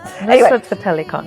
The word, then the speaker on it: Nusrat Fateh Ali Khan: Nusrat Fateh Ali Khan.